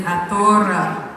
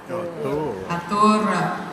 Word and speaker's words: Athora: So as we go over in pronunciation, you have Athu for 2, correct? Okay, so 20 is Athora. Athora. So again, you see the similar ATH sound.